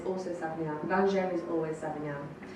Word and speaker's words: Savagnin: It sounds a lot like Sauvignon and looks like Sauvignon. I've had so many people come up to me and go, are you pronouncing Sauvignon wrong? Oh no, it's a different grape.